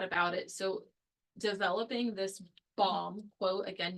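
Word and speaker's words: bombe: So they developed an approach using crib-based decryption via I'm assuming it's pronounced bomb, but it's B-O-M-B-E. So it's not an actual boom bomb.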